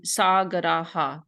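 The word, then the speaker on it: सागरः: It creates like an echo effect. So it'd be sagaraha. You add that the letter that precedes it, you pronounce it again afterwards.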